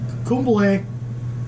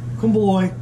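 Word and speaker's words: komboloi: Inspired by Mala / Kumbhle. Kumbhle. Depending on how you pronounce it, it's spelled K-O-M-B-O-L-O-I.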